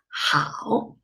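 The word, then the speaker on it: 好: the second character tau the initial is huh the final is au together is how as you can see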